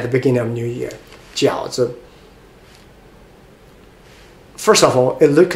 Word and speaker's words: 饺子: so there's a no tone or light tone, 饺子, it's not it's just 子, 饺子, make it a light.